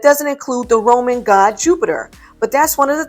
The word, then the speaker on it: Jupiter: i have found that the best pronunciation is mostly definitely you pit air jupiter this is based on one of the latin pronunciations of jupiter and leads to a